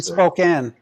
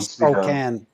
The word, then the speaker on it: Spokane: Anyone who's watching Spokane pronounces it Spokane. Spokane. Spokane.